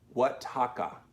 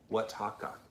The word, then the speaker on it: Oaxaca: Oaxaca. Oaxaca.